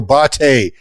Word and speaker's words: Botte: It's Botte. It's Italian.